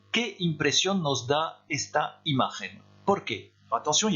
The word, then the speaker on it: imagen: ¿Qué impresión nos da esta imagen? ¿Por qué? Attention, il y a deux questions. Quelle impression nous donne cette image? Pourquoi? On prononce bien le N de imagen, ça c'est le verbe donner.